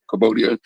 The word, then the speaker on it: Cambodia: But the darker Asian people from the Philippines and Thailand and okay, Cambodia, I said it right, Cambodia.